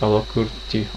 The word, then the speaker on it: Алакурти: Алакурти.